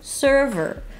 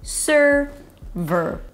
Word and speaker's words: server: So here, both vowels are the same. Sir, as in yes, sir. No S sound in the middle. Shift from the S to the R directly. Sir. And then from the V to the R directly. They rhyme. Server. Primary stress on the first syllable, server, ver, server.